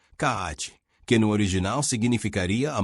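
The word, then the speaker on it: 空手: sob o termo karatê originalmente grafado, pronúncia japonesa, kaate, que no original significaria a mão de Tang, regionalismo para a mão da China.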